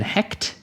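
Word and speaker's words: Hecht: to say his name Ben Ben het Ben hect yes the screenwriter behind very very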